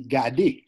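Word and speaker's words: gade: So by the way, remember we say that in Haitian Creole we pronounce all the letters. Mm-hmm. So that would be Gadi.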